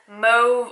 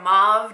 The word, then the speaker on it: mauve: I'd say it's more of a mauve or mauve, depending on what part of the world you live in.